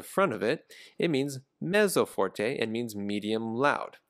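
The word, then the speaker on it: mezzo: and piano the word means medium and is pronounced meso when we use this in music we always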